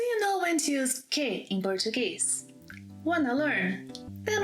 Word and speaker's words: que: But first, it's important to highlight that que may be pronounced as que or ki. Que doesn't have a twin brother. No. Que and ki are the same person. The only context, the only place in which que cannot be pronounced as ki, it must be que, is when que is the last word in a question.